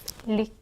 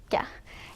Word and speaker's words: Lykke: And by the way, if you're wondering how to pronounce it, it's Lykke. Lykke. It's the Norwegian word for happiness, and people are really struggling to pronounce this correctly.